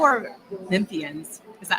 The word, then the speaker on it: Memphians: I think a lot of Memphians right now are, and that is how you say Memphians.